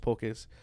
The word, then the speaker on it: poke: It's like pronounced pokey up here in the States, but that's incorrect. It's pronounced poke, right?